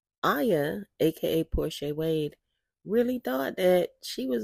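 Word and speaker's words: Porchae Wade: State your name and spell it for the court, please. Porsche Wade.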